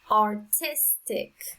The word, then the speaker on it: artistic: correct number one autistic artistic so the strongest sound is on the second syllable number 240 the strongest